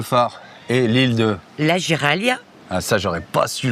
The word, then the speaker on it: Giraglia: Derrière nous, il y a le phare et l'île de la Giralia. Ah, ça, j'aurais pas su le prononcer. Donc, la Giraglia.